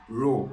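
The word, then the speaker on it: rho: a symbol of density it's pronounced as r h o you can call it row this is a symbol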